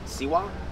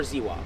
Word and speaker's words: Ziwa: It says Siwa or Ziwa, depending on if their language pronounces the Z the way we do.